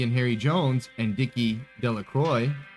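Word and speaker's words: Delacroix: Harry Jones and Dicky deac Croy the villagers pronounce this name de Croy eventually made a great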